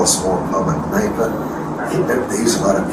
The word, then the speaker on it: Kneipe: a small pub a Kneipe. They use a lot of K-N words. Okay, how do you say it? K-N-E-I-P-E. Okay. Kneipe. So it's really a Kneipe.